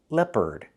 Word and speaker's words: leopard: Use the short S sound, like red and 10, lep, leopard. And the second syllable is the sound, like in burger, closed, Together, leopard. Put the stress on the first syllable.